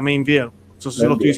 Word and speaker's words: Meinvielle: Así que tenemos triple alegría de un sacerdote que tal vez muchos de ustedes conocen, que es el padre Mainville. Así que se dice, ¿verdad? Mainville.